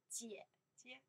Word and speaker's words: 姐姐: You see how I pronounce, 姐姐 The first one, 整个 right? The third tone, right?